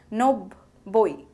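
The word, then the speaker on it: নব্বই: It is pronounced as nobboi and spelled as dontan no, boy boy, roshoi, nobboi.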